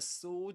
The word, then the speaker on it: sword: So this is sword which means that the this letter is silent. You don't pronounce it. This is s with a long o sound.